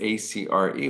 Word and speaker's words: Acre: In English, you usually see the word A-C-R-E, which people pronounce Acre.